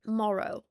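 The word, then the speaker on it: Morrough: It's spelled Morrow like M O R O U G H for those of you who are listening to the audio only version. Morrow.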